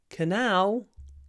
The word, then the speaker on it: canal: four Canal is a canal thousands of ships use the Suez Canal this is one of those rare occasions when the stress actually stays on the second syllable canal in Russian canal in English Canal what are the